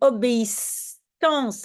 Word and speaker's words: obéissance: Mais obéissance, là, on sait que c'est deux S, hein, parce que c'est prononcé comme S.